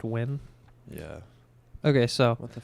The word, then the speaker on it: Nguyen: Article June 16, 2023 by Andy Nguyen. Pronounced win.